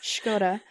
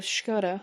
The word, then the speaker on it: Škoda: This is perfect pronunciation. It's Škoda. And the president of Škoda was Josef Šimanek.